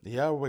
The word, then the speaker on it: Yahweh: The god that's spelled yhwh, right? So uh pronounced by scholars today as Yahweh. We don't really know exactly how it was pronounced uh in the past.